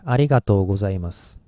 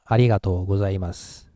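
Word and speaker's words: ありがとうございます: so this case two it ends with su and s is voiceless sound so we have to stop here and start another in short time but since Japanese people think is a little bit of trouble we actually unintentionally drop this you we don't want to start another vowel here so we go like arigato gozaimasu like that well actually I have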